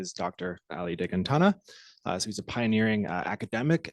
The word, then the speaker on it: Dehghantanha: And you know, there are very few people who can pronounce my family name properly, and he did that, right?